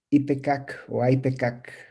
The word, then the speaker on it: ipecac: llama jarabe de ipecacuana en inglés le dicen y pkk quieren decir pero se escribe y pkk sí bueno es jarabe